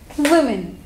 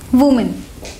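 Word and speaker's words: women: तो फर्स्ट है हमारा वुमेन, पर बहुत से लोग इसको उसकी सिंगुलर फॉर्म वुमेन की तरह प्रोनाउंस करते हैं, वुमेन, पर इस वर्ड की सही प्रोनाउंसिएशन है विमेन।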